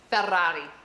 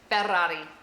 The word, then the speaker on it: Ferrari: rolling of your Rs, is Ferrari. Ferrari. Because it has the double R in the beginning and the single R at the end. Ferrari.